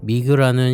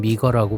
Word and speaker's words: Mige: 이번에 신규 업체로부터 시계를 제공받아서 여러분들께 소개해 드리게 되었는데 미그라는 신생 브랜드이죠. 한자명을 읽으면 미그 혹은 미거라고 발음하는게 맞을 듯합니다.